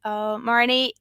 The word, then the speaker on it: Marney: And I'm Marney, and that's an EY at the end. Marney, and I'll be happy to hear any types of questions you guys have.